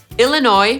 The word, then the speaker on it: Illinois: Podsumowując, niektóre nazwy amerykańskich stanów mogą być kłopotliwe, nie wszyscy wiedzą, jak je poprawnie wymawiać. Te najtrudniejsze moim zdaniem to Arkansas /ˈɑːrkənsɑː/, Connecticut /kəˈnet̬ɪkət/, Illinois /ɪlɪˈnɔɪ/, New Hampshire /nuː ˈhæmpʃɚ/ i Rhode Island /roʊd ˈaɪlənd/.